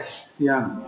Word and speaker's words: Sian: Sian. Okay. Yeah. Not GN. Sian.